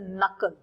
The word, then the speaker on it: knuckle: Is known as अ नकल. नकल. KNUCKLE. ये तो आपको बढ़िया लर्न करना पड़ेगा. इसमें K साइलेंट है. You don't pronounce K, you just pronounce this नकल.